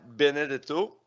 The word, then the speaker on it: Benedetto: Écoutez, on est avec Benedetto. Excuse-moi, je l'ai dit vite, hein, ton nom de famille. Si, oh, très bien. C'est italien, je pense. C'est Oui, italien? ça se prononce comme ça s'écrit, là.